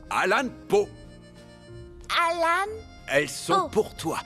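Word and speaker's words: Allan Poe: Les extraordinaires histoires de Edgar Ayan Po. Edgar Alan Po, ça se prononce Alan Po.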